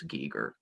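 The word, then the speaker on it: Geiger: gigar from that line they seem to all pronounce it as Giger so that's probably the way you should say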